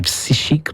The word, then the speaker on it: psychique: Un psychic, c'est un mot anglais, mon yo toujours tendé, mais si on dit prononciation française, on dit psychique.